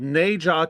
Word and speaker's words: Nezha: It's called Neja 2. That's spelled Nezha 2.